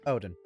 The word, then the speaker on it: Odin: yeah he's also got a little familiar called Odin is that how you pronounce it Odin like the Greek god not the Greek god